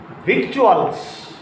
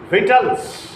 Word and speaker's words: victuals: For example, victuals, it is apparently victuals. It is apparently victuals. No. The English or the Englishmen have retained the pronunciation vital, not victuals, vitals. What is the meaning of the word vitals? Food or provisions. Food or provisions. So it is not victuals but vitals.